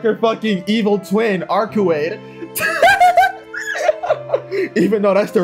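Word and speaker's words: Arcueid: Arukai giggles. This is so fucking abrupt. This can't be actually Arukai, bro. This gotta be like her fucking evil twin, Arkuade.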